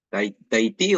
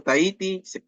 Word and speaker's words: Tahití: es el limón Tahití, Tahití o Tahiti, es lo mismo, puede pronunciar de las dos formas.